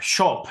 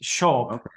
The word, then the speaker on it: scop: written as cop but the SC in Old English is a sh sound so it's show um which means shaper